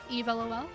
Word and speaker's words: eavlol: pronounced like Eve, eavlol.